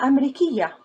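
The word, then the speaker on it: أمريكية: Ana Amrikiya.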